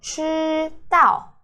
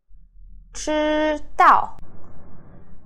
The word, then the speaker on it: 知道: Alright, it's pronounced 知道, 知道, 知道. Okay, with the ZHI, I doesn't do anything. You can forget about how to pronounce the I sound. 知, your lips looks like this. And then you could curl your tongue. So, 知, 知. Okay, first tone. 知道, 知道 means to know.